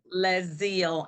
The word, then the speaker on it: LeZeal: Le zeal and zeal actually comes from uh a scripture